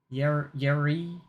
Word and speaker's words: Urie: playlist just titled "Period," and it's a bunch of it's Brendan Urie playing Yuri. game. It's spelled Urie. You're right. Yuri.